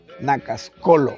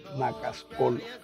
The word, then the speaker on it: Nacascolo: Y ahí fue que nació la idea de Carlos ponerle al grupo así, Grupo Cultural Nacascolo. Hay gente que pronuncia Nacascol, pero el término en sí del árbol es Nacascolo.